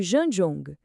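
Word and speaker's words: zhan zhuang: A pronúncia algo como Jan Jong e a tradução é linda, significa ficar de pé como uma árvore.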